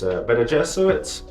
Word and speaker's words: Bene Gesserit: For future reference, it's Bene Gesserit, Kwisatz Haderach. The planet Dune's proper name is pronounced Arrakis.